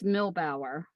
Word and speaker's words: Milbauer: my maiden name and if you look at the second part of it that means farmer in german bower is there it's milbauer that's how it's pronounced and that's german and